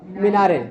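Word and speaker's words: minarets: marble चार marble की मिनारे हैं मिनारेट्स माने मिनारे ठीक है मिनारेट म मिनारे टी साइलेंट है मनारे हिंदी मेंगे मनारे ठीक है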